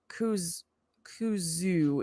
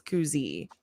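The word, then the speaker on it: Kuzui: C kuzu is not right. It's koozie kooi.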